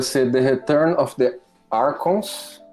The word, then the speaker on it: Archons: Hoje vai ser The Return of the Archons. É Archons, se pronuncia, né?